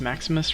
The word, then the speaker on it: Maximus: It's pronounced Maximus, right? Yep. Cool.